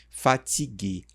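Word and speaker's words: fatiguée: que você está cansada, a pronúncia será a mesma. que é fatigue. No entanto, na escrita nós colocamos aqui uma vogalzinha fatigue, mesma pronúncia, só que aqui você já entende que é para uma mulher impression que tu é fatig.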